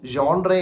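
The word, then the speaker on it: genre: പല ഇടത്ത് കണ്ടിട്ടുണ്ട് ഓക്കേ ജിഎൻആർ എന്നുള്ള വാക്ക് നമ്മൾ ജനർ എന്നേ നമ്മൾ വായിക്കത്തുള്ളൂ ഏതൊരു സാധാരണക്കാരനും അങ്ങനെ വായിക്കത്തുള്ളൂ ഞാനും പണ്ടൊക്കെ അങ്ങനെയൊക്കെ ആയിരുന്നിരിക്കാൻ വായിച്ചത്എന്ന് ഞാൻ ചിന്തിക്കുന്നു പക്ഷേ ജോൺരേ എന്നാണ് അതിന്റെ ഒരു ഉച്ചാരണം ജോൺ എന്ന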